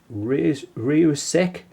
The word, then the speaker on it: Rieussec: It was Nicholas Matthew, I've got to pronounce this properly, Rieussec, who developed the first marketed chronograph watch, and this was in 1821.